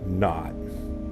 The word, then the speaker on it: naught: And it's usually pronounced not.